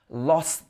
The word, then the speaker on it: lost: So we're not pronouncing the T's on the end of these words. It's like lost the. So you have a glottal stop.